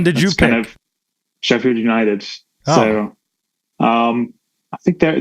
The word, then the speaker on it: Sheffield: I don't even know if I'm pronouncing it right. Yeah, that's correct. Sheffield, England.